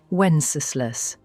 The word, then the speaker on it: Wenceslas: Wenceslas. Anyway, this guy sucks. He doesn't live up to his father's name at all. In fact, they call him Wenceslas the idol because he was so lazy.